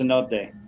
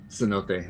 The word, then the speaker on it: cenote: i was gonna say i know you're all a bunch of gringos that have just come here to the yucatan but it's pronounced cenote cenote okay yeah all right